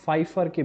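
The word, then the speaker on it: Pfeiffer: Hemingway Hadley রিচার্ডসনের কাছ থেকে divorce পাওয়ার পরে 1927-এ পলিন ফাইফারকে বিয়ে করলেন। এটার উচ্চারণটা দেখেন, পিএফ দেওয়া আছে, তারপর আমরা ফাইফার উচ্চারণটা করছি।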